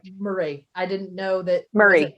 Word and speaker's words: Moray: And so it looks like it should be moray. And unless you're, you know, the last name that looks like Urquhart is actually pronounced Beckett, you know, it gets just like,